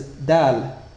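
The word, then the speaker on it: دال: The first letter to be discussed is dal. This consonant letter is pronounced very crisply and similar to a frontal d in English.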